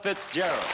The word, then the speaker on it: Fitzgerald: necessary you just have to say Ella Fitzgerald ladies and gentlemen Ella FAL Cony I don't